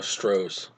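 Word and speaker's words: Stohess: Sheena I believe no stros W stros stros St St St yeah but it's spelled like s r o h e SS or something like that St like German Strauss yeah well if you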